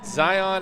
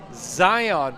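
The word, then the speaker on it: Xion: Exxon or Zion. Zion. Exxon. It's spelled X I O N. Zion Bolton.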